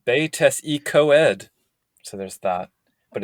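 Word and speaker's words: Betws-y-Coed: There's the town of Betusicoid, which the book wants you to pronounce as Betes y Coed.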